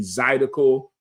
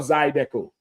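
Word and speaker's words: Zydeco: They gonna have, you know, the line dancing, the Zidico. Zidico or Zidco. You said it right the first time.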